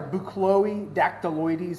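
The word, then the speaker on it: Buchloe dactyloides: um boots are sorry boo Chloe dactyl Louise is how you say the the Latin name boot Chloe deck -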